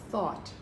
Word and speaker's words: thought: has an ah sound the gh is silent this has an awesome and it's the word thought okay now we have